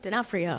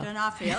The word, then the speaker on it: D'Onofrio: Star Vincent D'Onofrio, you can pronounce it? D'Onofrio. D'Onofrio, thank you.